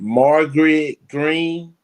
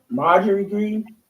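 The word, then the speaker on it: Marjorie Greene: Morgan, I hope I didn't pronounce her name wrong. Margaret Green. Marjorie Green. Yes.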